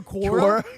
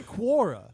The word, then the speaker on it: Quora: How the you pronounce I don't go to Kora. I said I don't go to Kora. I say Quora.